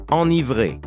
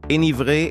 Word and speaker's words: enivré: Prononce enivré, comme dans antérieur, et non comme dans énervé. Enivré est une prononciation courante, mais fautive.